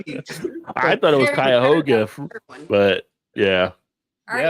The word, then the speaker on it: Cuyahoga: On to But then- Cradle- But then they all live in a place called Cuyahoga Lake, or they Yes, say Cuyahoga Lake.